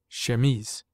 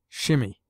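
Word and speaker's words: chemise: unless compelled to shimi we derive from the French language our word shamis pronounced shemes in French the word denotes a man's shirt as well as the undergarment worn by women in this country it is often pronounced by people who should know better shimmy rather than call it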